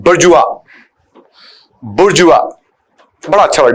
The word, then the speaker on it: bourgeois: एक और word middle class के लिए यूज करते हैं, बुर्जुआ। बुर्जुआ बड़ा अच्छा वर्ड है। बुर्जुआ इसका उच्चारण इसलिए अलग है क्योंकि फ्रेंच वर्ड है, लेकिन रीडिंग में पैसेज में हम बहुत ज्यादा वर्ड इसका इस्तेमाल करते हैं।